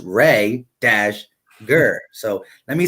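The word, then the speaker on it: Reagor: let me say Rhaegar because I always say Rieger and and a couple people in my last video was like it's pronounced ray - gur so let me say Rhaegar instead of Rieger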